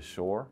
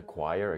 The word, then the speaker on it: choir: Yeah, they're sort of singing in the shore. Yeah. And a choir, excuse me, I keep pronouncing it wrong.